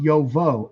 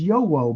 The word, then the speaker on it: Jowo: Sorry, J-O-W-O is pronounced Yovo. Okay. I didn't know that. I thought it was Yowo, but okay.